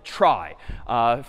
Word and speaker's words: trie: This one's called a try, short for retrieval, even though it's pronounced differently.